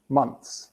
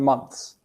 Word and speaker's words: months: Months. So you actually do that ends. Yeah, I've been here for 11 months. Months. Okay. So you actually bite the tip of your tongue when you do that.